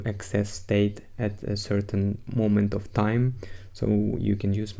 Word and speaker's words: Memento: design pattern named Moto I would like to say it like momento but no it's momento it's very useful in